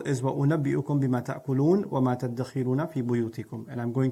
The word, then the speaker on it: تَدَّخِرُونَ: Now, the word dakhar, تَدَّخِرُونَ, is actually dhakhar with a dha. تَذْدَخِرُونَ becomes تَدَّخِرُونَ. This is a principle in sarf, where you fuse letters together that are similar in pronunciation.